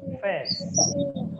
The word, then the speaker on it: face: Kemudian wash your face, bukan fish ya dibacanya, tetapi face.